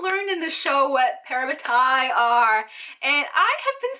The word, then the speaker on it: parabatai: We also learned in the show what parabatai are, and I have been saying it right in my head for the past year. Parabatai, not parabati. Parabatai.